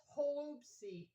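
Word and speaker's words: holubtsi: But anyho, um, also fun fact, um, in Ukraine when you make cabbage rolls, they're known as hoopsy. So that's spelled H O L U B T S I.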